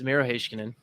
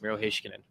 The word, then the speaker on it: Miro Heiskanen: It's Miro Heiskanen, okay. And it is that is how the Finns have told me is pronounced.